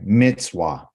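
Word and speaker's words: מצווה: get it from okay actually that letter za you pronounce this letter right here as this two letters together okay okay yes it's like in rats okay this right here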